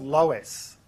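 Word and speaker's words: LOESS: up with this new method and it's called Lois which is spelled one of two ways it's either spelled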